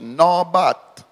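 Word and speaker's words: נבט: It's pronounced nabat, which means to scan.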